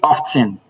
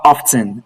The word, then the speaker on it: often: Quite a large number of student this word to be often. It's not often. It is often.